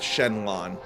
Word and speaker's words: Xenlon: And for anyone who's never seen Shandelon here, and yes, the name is pronounced Shenlon.